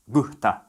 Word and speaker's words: gusta: When spoken in a sentence, gusta sounds more like gusta, and antes sounds more like ante. In Rioplatense, this mainly happens when S appears before other consonants, and in this case here, the consonant is in the following word. For some speakers, the aspiration doesn't happen at the end of a word, only before a consonant within the word, like in gusta.